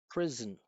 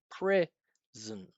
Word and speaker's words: prison: I'm saying prison, zn, zn. It's short, it's flat, almost no space, zn, zn, zn.